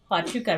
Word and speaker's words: Huachuca: to on saturday i went to fort hotchoka huachuca right is that how you say it not